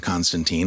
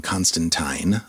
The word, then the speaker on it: Constantine: for a while uh the character of John Constantine or actually more properly it's pronounced John Constantine in the comics canonically this is a character